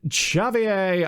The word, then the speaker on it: Xavi: the pronunciation of, and it turns out I was right. I was absolutely right on the other one. It was from sit corrected. Xavier Altimas. So it's Xavi.